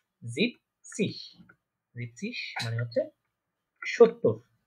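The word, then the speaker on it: siebzig: বলতে পারি জিবেন, জিবেনসিশ, কিন্তু জিবেনসিশ হবে না। আমরা আগে বলেছিলাম এরা বলার মাধুর্যতা, বলার সুবিধার্থে এই লাস্টে এই এনটা বলে না ওরা, ঠিক আছে, ওরা এটা বিলুপ্ত করে রাখে। আমরা বলতে পারি জিপ সিশ, জিপ সিশ মানে হচ্ছে 70 বা 70।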